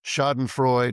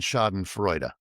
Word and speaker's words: Schadenfreude: I'm probably going to butcher the pronunciation, but I've heard it pronounced shodenfrod and shoden frea. You take your pick.